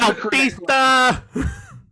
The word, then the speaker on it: Bautista: Which is Bautista! Which is Batista's name. It is the correct pronunciation of his name, Bautista, just without the U.